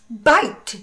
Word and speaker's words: bite: Bite, que seria um morder.